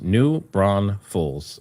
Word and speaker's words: New Braunfels: New Braunfels is pronounced New Braunfels. All right, thank you. It sounds like you're pronouncing it correctly.